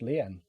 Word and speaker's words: lien: um by that person is discharged and it's pronounced lien uh these actions were but which were established